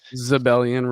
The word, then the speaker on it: Xebellian: earlier, I was like, just rhyme with rebellion, right? You'd think it's that simple, but it's not. Xebellian Rebellion. Just Yep. take the R off, put a Z on it, and you got it.